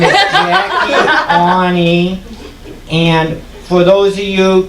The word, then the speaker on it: Aune: you keeping a scorecard, her last name is spelled A-U-N-I, but as she told me backstage, in the crowded jam backstage areas, that it is pronounced as if ow, I hurt myself, knee, I hurt myself on my knee.